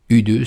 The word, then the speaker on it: U2: de de Bono mais en anglais U2 se prononce U2 c'est qui fait penser à vous aussi toi aussi ou à vous deux mais leur succès a